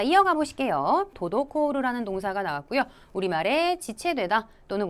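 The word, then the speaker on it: 滞る: 이 동사를 발음하실 때 주의하셔야 될 거는 앞에는 토, 청음이고요. 그 다음에 이어지는 노, 땡땡 붙여서 읽어야 된다는 거 주의하셔야 되겠습니다.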